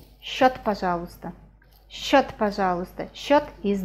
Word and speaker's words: счёт: Can you see these two letters? С and ч. С and ч. С and ч are always pronounced as sh, sh. We never say sh. We say shot, shot, sh sound.